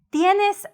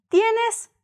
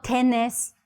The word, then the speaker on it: tenés: Recuerda pronunciar las vocales I y la vocal E. Tienes. Repite, tienes. ¿Tienes hambre? ¿Tienes sed? Así como dice, tienes sed. Tienes hambre. Tienes. No tenés. No. Both vowels. Tie. Tie.